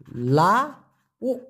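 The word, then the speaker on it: lauk: লাউ উচ্চারণটা কি হবে? লা উ, লাউ।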